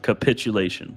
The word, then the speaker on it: capitulation: day-to-day conversation with people capitulate emphasis on the second capitulation capitulation there we go